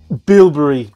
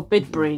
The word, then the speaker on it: Bibury: good few weeks ago bilbury oh bibury yes that's correct or however you pronounce